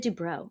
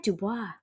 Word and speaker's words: DuBois: um all right Dubois I said it wrong sorry it's Blanche Dubois I said Dubrow and she said Dubois I know I swear